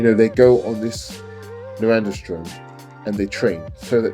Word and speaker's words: norandrosterone: It's called norandrosterone. Norandrosterone, like testosterone, but norandrosterone.